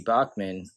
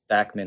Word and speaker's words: Bachman: Randy Bachman, or Bachman, I'm not sure how to pronounce it. I know like Bachman Turner Overdrive is the way people say that, but I saw an interview that said that he actually pronounced it Bachman.